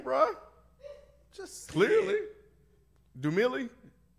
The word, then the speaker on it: Dumile: Dumille? Dumile.